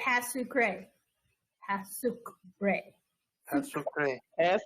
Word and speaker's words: pas sucré: Pas sucré. Everybody say pas sucré. Pas sucré. That's okay. As a pray. Pas sucré. All right. The T is pretty much kind of silent. The E is definitely silent.